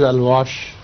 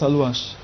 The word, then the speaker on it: Alouache: It's A-L-O-U-A-C-H-E. A-L-O-U is Alu. Sorry, A-L-A-O-U. A-O-U. Yes. Yes. Non, j'avais bien dit. No, I had said it right. A-L-O-U-A. Yes. A? A-L-O-U-A. That should be Alu. Alouache. Alouache. Yes. And then what? Then C-H-E. Alouache. Alush or Aluash? Alouache.